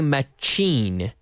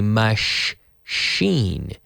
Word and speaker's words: machine: again this machine now be careful with the pronunciation it's a Matt we don't say Matt Jean machi chi no machine no we say mush Xin so imagine you're telling someone to be quiet Shh machine machina machine this machine isn't